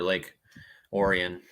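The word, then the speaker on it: Lake Orion: desktop rainy tomorrow uh definitely after three for Lake Oran right that's how it's pronounced cool yeah cold water's South Southern Michigan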